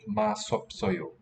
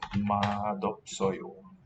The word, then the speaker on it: 맛없어요: So, on the one hand, we expect mat, but since a vowel follows and it'll carry over to the following syllable, could also expect it to be a masopsoyo. What we hear is madopsoyo.